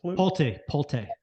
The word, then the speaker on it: Pulte: Is that how you pronounce it? Pulte. Yeah, I knew I was saying it wrong. Yeah, I said that earlier. Pulte's, that's it.